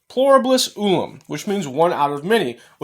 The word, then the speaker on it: pluribus unum: Okay, it's pronounced pluribus unum, which means one out of many, which means that they're going to take many and they're going to create one.